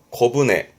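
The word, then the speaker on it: 小舟: 발음은 코브네. 앞에 소자 발음이 코고요. 훈의 경우는 땡땡 붙어서 발음이 코브네.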